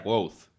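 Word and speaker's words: Kvothe: Me llamo Quoth, que se pronuncia Quoth.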